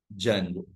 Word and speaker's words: Django: D is silent. Django.